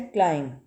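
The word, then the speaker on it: climb: silent है यहां पे नेक्स्ट है क्लाइम क्लाइम चढ़ना ऊपर चढ़ना बी साइलेंट है नेक्स्ट है नोब के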